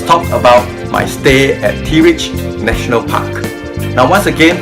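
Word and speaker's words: Terelj: now finally let's talk about my stay at t rich National Park now once again for under like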